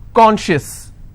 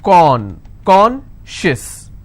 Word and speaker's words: conscious: not apply here okay conscious how many syllables do I have two and I will stress on con concious okay Precious how many